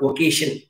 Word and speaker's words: vocation: V-O-C-A-T. Look at the spellings. Anga O potta, it is called vocation. Slight difference in the pronunciation.